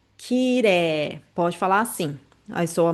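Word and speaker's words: きれい: Quando tem a vogal e i, i juntinho, você vai ler, pode pronunciar como se fosse e dois s, né? E a vogal é prolongada. Kiré. Kireé.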